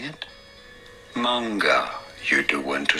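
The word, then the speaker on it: 漫画: He's telling you, oh, the stress is at the beginning. It's manga. It's manga because it's heiban pattern.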